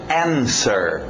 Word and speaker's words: answer: vamos ver então cuidado o w não entra na pronúncia to answer sem o w sir no final to